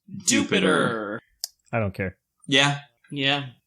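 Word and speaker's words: Dewpider: going to be doing i just caught dewpide and seth has repeatedly informed me against my will it is pronounced jupiter i don't care yeah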